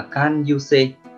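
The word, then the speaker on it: 感受性: Cách đọc của nó là can yuse, can yuse.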